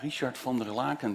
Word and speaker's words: Richard van der Laken: You pronounce it very well, Richard van der Laken, just like the consul.